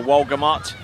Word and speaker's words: Walgamot: All right, first competitor out is going to be Haley Walgamo. So Haley Walgamot. Tried to see if I could get away with the French pronunciation, but Walgamot. Just been reliably told by my good friend there, Zane Nicholson.